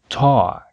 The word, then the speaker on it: talk: Automatic autograph pause cause existem palavras em que a letra L não é pronunciada e o som é apenas o por exemplo w Talk e já que estamos